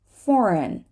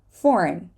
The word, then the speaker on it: foreign: word is you try don't say the g foreign foreign sign sign we're not